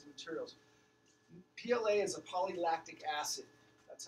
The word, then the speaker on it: polylactic acid: PLA is a polylactic acid. That's how you pronounce it. Polylactic acid, or PLA.